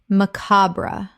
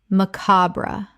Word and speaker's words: macabre: paparazzi paparazzi Word 140 macabre Common mispronunciation macabra Correct pronunciation macabre Three syllables with the stress on the second. The final e is sometimes silent.